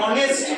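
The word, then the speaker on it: honest: অনেস্ট অনেস্ট নয় কিন্তু এইচ এর উচ্চারণ যেহেতু আসে না ও এর উচ্চারণ আসে সেহেতু আমার এখানে বসে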